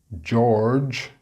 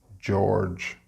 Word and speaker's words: George: George, notice the sound twice in this word, so that can be tricky. George.